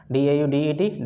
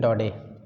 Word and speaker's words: Daudet: Pronunciation of the word D-A-U-D-E-T, Daudet.